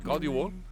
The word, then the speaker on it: God jul: Or God Jul.